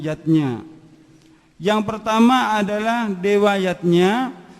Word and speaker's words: Yajna: Yajna dieja yajna, orang tua. Namun, pengucapannya adalah yatnya.